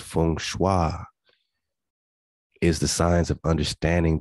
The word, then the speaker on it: feng shui: system of geo mancy feng shui pronounced fung shua is the signs of